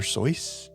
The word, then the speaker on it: Seuss: He intended it to rhyme with voice. So it was be it was supposed to sound like Dr. Soy.